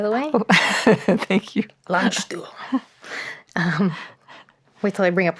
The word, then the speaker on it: Landstuhl: way to see him at the hospital in Landstuhl, Germany. Could you continue your story there? Yes, nice German pronunciation, by the way. Oh, thank you. Landstuhl.